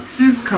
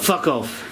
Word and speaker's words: Fuku: And I'm going to just ask her, how do you pronounce our name, the room name? Fuku. Fuku. Fuku. Not fuck off.